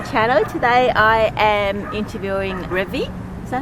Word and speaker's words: Revi: Today I am interviewing Revi. Is that how you pronounce it? Revi. Revi, yeah.